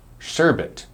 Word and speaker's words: sherbet: which one is right sherbet is more accurate you can remember this one because it sounds like sure bet sure bet sherbet sherbet you see do you